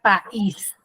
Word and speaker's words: país: Luego tengo la palabra país. ¿Cuántas sílabas tiene país? 2. Tiene 2. País. ¿Qué sílaba tiene la mayor fuerza de voz? Is. Is.